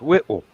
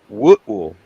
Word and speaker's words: Whitwell: Looks like it should be pronounced Whitwell. Mhm. Nope. Nope. What? Whitwell. Yeah. Ain't no U's in there.